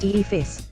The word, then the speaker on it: EFIS: The screen is part of the aircraft's electronic flight instrument system, EFIS, pronounced EFIS, because in aviation we love to convert our acronyms into words.